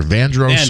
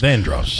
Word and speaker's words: Vandross: My pronunciation or misprononunciation of L whether it's Luther Vandross or Vandros. Vandross um was a Kanye West song from when I was growing up.